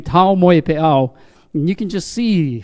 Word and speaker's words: Taumoepeau: Each vowel sounded and said separately. So, Taumoepeau. Right? Taumoepeau. One more time. Taumoepeau.